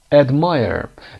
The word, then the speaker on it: admire: admire در بریتیش میگیم admire. R تلفظ نمیشه.